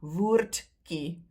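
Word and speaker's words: woordjie: Then it becomes woordkie, woordkie. But we tend to skip the D, and that ye at the end is pronounced ki, woordkie. Right, so keep that in mind.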